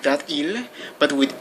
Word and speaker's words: il: is you have to be careful with the pronunciation here with eel there's no problem it's pronounced like that ill but with l l is spelled e-l-l-e but